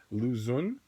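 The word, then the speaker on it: Lu Xun: Lou is his first name. And then X-U-N. Zun. Lou Zun.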